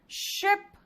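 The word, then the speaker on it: ship: शिप, देख रहे हो, शिप।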